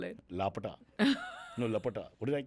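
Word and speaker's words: Laapataa: No, Lapata. What did I say? Lapta.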